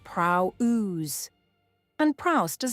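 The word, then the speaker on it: πραΰς: The Greek is prrow pronounced prow ooze and prrowse does not mean meek in the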